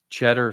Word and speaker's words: Tschetter: Cheddar Sulzer. So TSCHETTER. SULZER. I'm impressed with your pronunciation, but more impressed with your spelling of it.